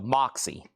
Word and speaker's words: Moxy: Moxy is pronounced like box. So, Moxy.